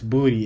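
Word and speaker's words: Boutte: Keyshawn booty nah there's no way nah it's booty it's pronounced booty that's how they say that booty yeah b-o-u-t-c-e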